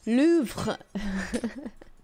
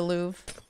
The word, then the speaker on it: Louvre: balloon yes indeed the Louvre if you want to say it correctly you should say move it's kind of hard to say so I just say the Louvre can people join your